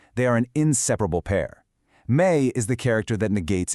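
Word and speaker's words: 没: To say I don't have, you're going to need this character, méi, pronounced méi.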